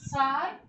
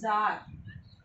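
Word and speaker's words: Czar: Okay, in Russia actually the word is Tsar. This is not Tsar, but we used to call it Tsar Nicholas. Actually in the reality it is Tsar. C Z, where the C is silent, and Tsar, we used to call it Tsar Nicholas.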